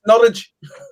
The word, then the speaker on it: Norwich: No, it's Norwich. Yeah. Norwich, okay. Norwich. All right. A silent W.